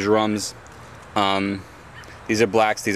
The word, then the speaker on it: Djarum: A lot of people call them jer. It's spelled with a djarum, but I call them jerums.